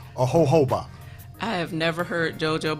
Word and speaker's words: jojoba: The Spanish people, the J is silent.